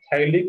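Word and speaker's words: phthalic: इसको बोलते हैं लोग थैलिक एनहाइड्राइड। तीन साइलेंट रहेगा, इसको क्या रीड करेंगे यहाँ पे, थैलिक एनहाइड्राइड।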